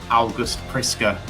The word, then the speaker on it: August Priske: Swedish newspaper Expressen to discuss all things August Friska. That is the pronunciation I I checked it out with Jonathan before we came on air.